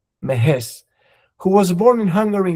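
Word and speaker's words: Mehesz: Cornell Zultan Mahes. M E H E S Z Mahes.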